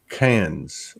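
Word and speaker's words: Cairns: could be going to cans they pronounce it cans but it's c-a-i-r-n-s and worse and it's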